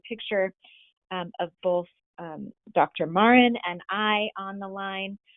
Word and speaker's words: Mauren: you to remind me is your last name pronounced i'm embarrassed i'm thinking no that's okay my name gets pronounced lots of different ways it's actually marin marin that's right yeah